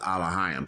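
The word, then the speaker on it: אלוהים: elohim elohim elohim and the third entry it's actually pronounced aliheim take all about all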